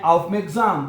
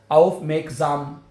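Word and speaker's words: aufmerksam: आउफ मेग्जाम हैं। लफज़ को तोड़-तड़ के पढ़ लें। और एस जो है वो नॉर्मली जेड की आवाज़ में प्रोनाउंस होता है ना। आउफ मेग्जाम ठीक है?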